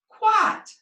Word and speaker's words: quite: then the consonant T we also have an underground that is a silent e that jumps over that consonant it's magic and it makes the first vowel say its name so instead of saying